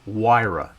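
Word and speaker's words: Huayra: one is a pagani wira and that's how the italians pronounce it and the theme is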